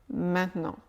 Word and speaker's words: maintenant: mot suivant c'est maintenant mais à l'oral il devient très souvent maintenant maintenant le T n'est pratiquement pas prononcé il devient quelque chose de nasal maintenant je ne prononce pas vraiment un T maintenant à la place le N de non est juste un petit peu plus long maintenant maintenant tu le